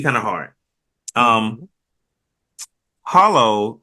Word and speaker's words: Holo: Hollow, or in the show pronounced Horo, the wolf.